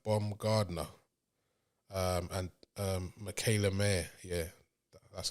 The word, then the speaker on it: Mayer: and then Alicia Baumgardner um and um Michaela Mayer yeah that's how you pronounce her name that was uh the co-main